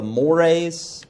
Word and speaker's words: mores: At the more serious end of this are the mores, which is kind of annoying, I know, because it's just spelled like Moors.